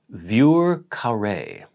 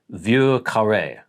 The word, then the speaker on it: Vieux Carré: It says Vieux Carré. And I'm assuming that was for Vieux Carré. Yeah, so Vieux, he says V-Y-U-R sort of phonetically.